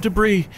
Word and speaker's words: debris: The S is silent because it comes from French.